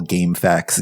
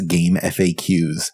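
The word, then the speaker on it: GameFAQs: I guess my my personal pronunciation bugaboo is that I always call game facts game FAQs. I don't like facts. I think I think it's fine to do either one of those, frankly.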